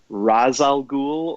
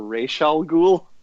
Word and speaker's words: Ra's al Ghul: the animated series that the pronunciation was race because of the Arabic origins of the name but then I mean if you watch arrow or Batman Begins they still say Ra's al Ghul so it's a denny